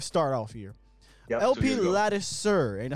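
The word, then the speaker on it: Ladouceur: Yep, LP Lattisir, ain't that how you say it? Yeah, Lattisir.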